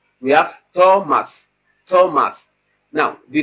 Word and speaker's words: Thomas: So it is the same ta you have in table that you have in Thomas, the alveolar ta.